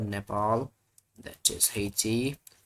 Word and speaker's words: Nepal: Not Napal but Nepal.